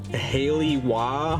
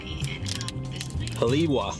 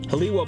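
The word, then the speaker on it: Haleʻiwa: I'll say Ebola obviously Haley wah Haley wobble I'm gonna look up how to say this haliwa haliwa Bowls in the North Shore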